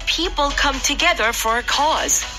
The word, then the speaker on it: cause: It's incredible how people come together for a cause. 여기까지입니다. 예! All right, good job, everyone. 네, good job, everyone. All right. 그 cause 할 때 C-A-U-S-E잖아요. 이거 Yes. 많은 분들이 cause라고 하는 발음을 잘못하는 경우가 많은데 하고 벌어집니다.